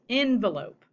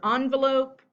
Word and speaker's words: envelope: Now, this word can also be pronounced envelope. Both are correct. Either envelope or envelope.